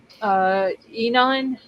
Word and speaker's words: Enon: Enon or Einan? Enon.